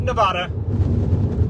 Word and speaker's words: Nevada: I heard a lot of Nevadas on this trip, and I had to correct them. It's Nevada. It is not Nevada.